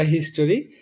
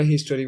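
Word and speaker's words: history: ওকে, আমরা জানি এটা হিস্টোরি। আমরা আসলে হিস্টোরি বলি, অনেকেই আমরা হিস্টোরি বলি, কিন্তু কারণ আমরা তো এটাই শিখে এসেছি।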